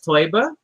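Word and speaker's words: Teuber: uh designed by klaus toiba um eu is pronounced oy in german oh yeah that's leftover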